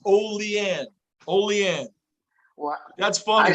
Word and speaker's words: Olean: Oh, it's pronounced not Olean. I really chopped that up. It's O. He spelled it out. Thanks, Gunner. He spelled it out. OH-LEE. He told me exactly how to say it.